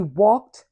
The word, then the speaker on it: walked: The last sound we hear is So in its past form, the final ed is pronounced t. Get it? Let's see how this is used in sentences. She walked from store to store.